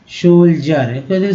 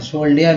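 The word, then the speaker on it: soldier: सोल्जर, सोल्जर बोलते हैं हम लोग, सोल्जर, सोल्डियर नहीं सोल्जर। Said as soon as, ये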